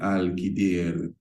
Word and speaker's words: Al-Khidr: the term Al-Qaeda, but Al-Khidr, those who are what you would consider to be fundamentalists, will tell you that is the proper pronunciation.